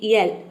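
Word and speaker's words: yell: करते हैं, जैसे कि यल। वाई का य हो जाएगा, ई का हो जाएगा, ए डबल एल का हो जाएगा, ल पूरा हो जाएगा यल।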